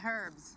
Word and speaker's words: herb: The way they say herb instead of verb. In America, we don't pronounce the H. What is it with you and this guy? He sells herbs.